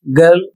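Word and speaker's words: girl: अगला शब्द है जी आई आर एल गर्ल लड़की।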